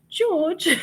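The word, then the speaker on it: Jawg: Thrifty is it Thrifty George j-a-w-g he's from England and so it's pronounced George he's such a darling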